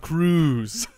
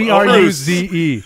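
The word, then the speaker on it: Todd Cruze: Todd Cruz. It's spelled C-R-U-Z-E. I think that's pronounced Cruz. Cruz. Todd Cruz.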